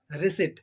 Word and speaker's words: receipt: that is the reset that is receipt in that P is in the middle of this word as we can see yeah in the middle of the uh of the word but still p is silent here why it is no